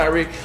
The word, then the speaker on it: Tyreek: number 5, it's Tyreek Hill or Tyreek, depending on how you want to pronounce it. His mama called him Tyreek. I'm going to call him Tyreek.